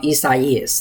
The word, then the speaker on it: Isaias: This is the second video update today, discussing potential Tropical Cyclone 9, which is soon to be Tropical Storm Isaias. That's how you pronounced it.